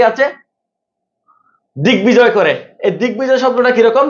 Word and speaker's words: দিগ্বিজয়: তাহলে বাংলা সন্ধি সূত্রে আগত ক এর স্থানে গ, মানে কটা যদি গ হয়ে যায় ওই গ সাথে যদি ব যুক্ত হয় ওই বর উচ্চারণ ঠিক থাকবে।